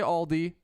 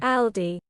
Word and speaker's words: Aldi: Americans say Aldi. British say Aldi. Aldi. Aldi. Aldi. Whereas Americans say Aldi.